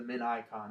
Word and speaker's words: Minicon: it's basically I think they call it the Min ion actually but it's spelled Minicon but uh but yeah